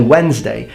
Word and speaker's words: Wednesday: wetness day you say Wednesday the DS there because of warden where than adding the God that it comes from but the D completely not pronounced ignored ok I think I